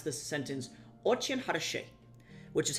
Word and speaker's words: очень: The word is очень. Очень. In Russian, your E sound is pronounced ye. So очень, right?